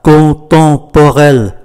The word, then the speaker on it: contemporain: Le musée d'art contemporain, M phát âm là N, do bởi đứng trước ký tự P, Musée d'art contemporain.